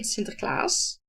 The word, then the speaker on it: Sinterklaas: And that is the day we celebrate Sinterklaas, as we call it. And that is, well, I should say it correctly. We celebrate Sinterklaas, who is a saint who gave presents to